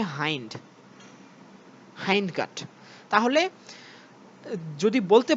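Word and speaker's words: hind: হিন্ড না, উচ্চারণ হচ্ছে হাইন্ড, হাইন্ড গাট।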